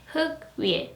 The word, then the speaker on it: 흙 위에: 위에, or 흙 위에, heuk 위에. So do not move the second consonant to the next syllable because we has a real meaning, right?